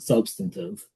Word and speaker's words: substantive: So substantive testing, and yes, the word is substantive. Whenever I started to work, I basically thought that everybody I was working with was an idiot and didn't know how to say the word substantive, but it's actually substantive. It's an accounting word that's not used anywhere else except for in accounting.